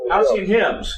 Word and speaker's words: Halcyon Hymns: How do you pronounce it? Is that Halcyon Hymns? Halcyon Hymns.